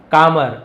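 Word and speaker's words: calmer: ही is becoming कामर L silent है।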